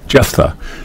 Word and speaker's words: Jephthah: Jephtha.